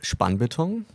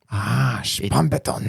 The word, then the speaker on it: Spannbeton: whose name is Spannbeton. Did I pronounce it right? Kinda. Okay, how would you say it? It's German. It's Spannbeton. Spannbeton. Spannbeton. Yeah, it kind of sounds like a Rammstein song, but Nice.